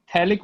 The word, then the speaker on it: phthalic: हाँ बिल्कुल, थैलिक बोलते हैं बेटा, जो पीएच हाँ, होता है सर. उसको साइलेंट करके पढ़ते हैं, ठीक है।